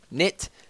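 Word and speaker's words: Knytt: I say Knit because it's K-N-Y-T-T. Just makes more sense. It's easier to roll off the tongue.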